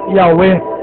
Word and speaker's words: Yahweh: Clemente de Alexandria escreveu Yahweh, que se pronuncia Yahweh, pois em grego ou pronuncia-se U.